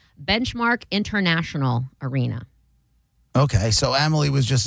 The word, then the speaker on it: Benchmark International Arena: It will now be called Benchmark International Arena.